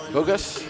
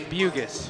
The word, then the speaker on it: Bugis: was what was uh bogus bugis bugis a bu a long u katie bugis scoring 11